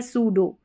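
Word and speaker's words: pseudo: Number 12 पर है P silent, P और एस के कॉम्बिनेशन में, पी साइलेंट है। यहाँ पर देखिए पी को नहीं पढ़ा गया है, साइकोलॉजी और ये है साइकिक, साइकिक, तो यहाँ पर पी साइलेंट है इन स्पेलिंग्स में। अब इसमें भी पी साइलेंट है, ये है सूडो।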